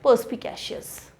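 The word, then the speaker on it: perspicacious: पर्स्पिकैशियस, है ना, पर्स्पिकैशियस।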